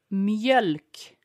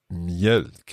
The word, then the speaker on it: mjölk: Mjölk. Mjölk. Is that an O with two dots sound? Yes, so it's M-J-E-L-K.